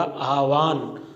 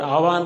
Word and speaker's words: आह्वान: है, वो है ह, तो इसका जो शुद्ध रूप होगा वो होगा आह्वान। और आह्वान को दूसरे रूप में अगर लिखना चाहे तो ह के अंदर व लिख सकते हैं, इसका भी शुद्ध उच्चारण होगा वो आह्वान ही होता।